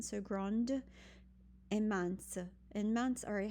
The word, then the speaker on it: grande: You might say grande et mince. Don't forget, instead of grand, not pronouncing that last consonant now, you will, because you add an e to it to make it feminine. So grande et mince.